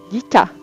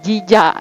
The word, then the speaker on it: JICA: Terus, nah ini nih, founded by bantuan Jisa, Jija, Jica, Jica, bacanya Jica, Jica ya. Terus, iya, JICA. Jadi kalau kita bahasa Indonesia itu Jija, ya. Tapi berhubung bahasa Inggris jadi GICA, oke.